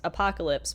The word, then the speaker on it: Hoppocalypse: So now I can tell people it's Apocalypse, but instead of the A, it's an H. And now I just shorten it to say that if you want to pronounce it, you can either call me Hop, because it is kind of like the first syllable, or you can call me, or say Apocalypse and just put the H sound in front.